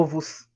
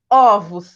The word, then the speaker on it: ovos: quando eu falo plural eu não falo oh ovos eu falo ovos né eu abro esse ó pronuncio ele abertamente osso e pronuncio fechado